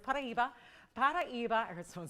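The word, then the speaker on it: Paraíba: Of course, that's a it's a pronunciation that's from Brazil because that is where it's named.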